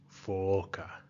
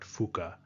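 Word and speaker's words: faa: The last thing I'll point out here is if you have a double vowel, that lengthens the vowel sound. So for example, this word is pronounced fa, not fuka.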